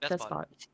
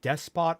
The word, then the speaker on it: despot: Yeah, you can, depending on region, it can be emphasized despot or despot. Like that's either or.